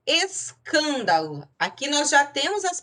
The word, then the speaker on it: escândalo: Escândalo, se eu observar a sílaba tônica, ela é a terceira de trás para frente. Então, ela é uma proparoxítona. E a regra diz que toda proparoxítona é acentuada.